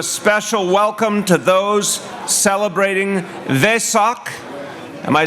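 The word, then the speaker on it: Vesak: to do a special welcome to those celebrating they sock am I saying it right they suck they suck vie sock thank you which honors the Buddha's life and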